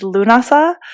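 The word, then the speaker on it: Lughnasadh: Celtic world, as is the one that's coming up on August 1st, which is Lunasa. Mhm. And that's spelled Lughnnasadh.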